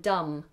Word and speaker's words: dumb: you pronounce numb and dumb if um both of them have a silent B at the end if you can't feel